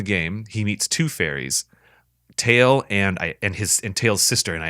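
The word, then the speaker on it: Tatl: I pronounce this character's name as Tael, Tael, Tael.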